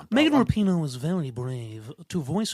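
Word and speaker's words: Rapinoe: Before there was Megan Rapino, is that right?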